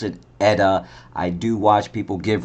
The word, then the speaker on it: ETA: It's the 2892, and then you do pronounce it ETA. I do watch people give reviews on watches. They always say ETA, but no, it's pronounced ETA.